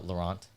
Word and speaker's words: Laurent: her name in it it's uh laurent but it's spelled like lauren with the t luna and yeah that's